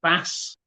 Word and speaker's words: bass: 7 is a fish, and the section of the choir is bass, bass, B-A-S-S, basically, pronounced slightly.